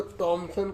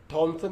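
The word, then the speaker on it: Thomson: क्या करा, ठीक है, इसमें टी है, ठीक है, टी से पढ़ेंगे, एस साइलेंट होता है। ठीक है, थॉमसन नहीं पढ़ेंगे, टॉमसन पढ़ेंगे।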